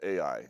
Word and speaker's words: Ai: It's a city called Ai, and it's spelled A-I.